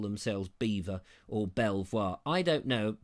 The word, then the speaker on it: Belvoir: because it's I think some people call it beaver castle and others call it Belvoir Castle because it's spelt Belvoir but I'm also told that it beaver now quite how you get to beaver I don't know or